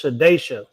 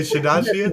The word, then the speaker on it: Shadasia: Hey man, I'm pretty sure it's Shadesha. Some reason y'all be over pronouncing the vowels. Y'all be adding What did I say? vowels. What did I say? Shadasia?